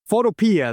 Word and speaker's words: Photopea: Photopea, it's Photopea, I think that's how you say it, Photopea. It's free. Photopea, that's right.